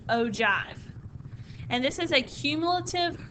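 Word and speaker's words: ogive: and it's spelled o give but it is pronounced ove and this is a cumulative relative frequency graph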